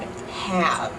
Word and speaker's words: have: is in the word have have have in English have ends with a V sound a Dutch person will